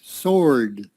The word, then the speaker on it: sword: around said strike sword so the w is silent sword cutting off tense retaliate